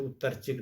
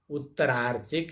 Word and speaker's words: उत्तरार्चिक: सबसे पहले तो उत्तरचिक नहीं है सामवेद में। सामवेद में उत्तरार्चिक है।